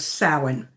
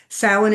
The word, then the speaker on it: Samhain: is the holiday of Samhain. And it's not pronounced anywhere close to how it's spelled. So Samhain is the beginning of the year.